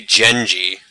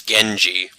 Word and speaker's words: Genji: If we were to pronounce his name as Western names, the G would actually be a J sound. So it would be Genji, but instead it's Genji.